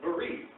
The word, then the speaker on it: bris: A bris. It's berit. It's berit. It's just pronounced according to Ashkenazi Judaism.